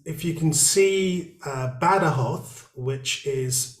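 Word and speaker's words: Badajoz: it looks like better jobs but it's actually better hoth as they pronounce it here and the kathras province i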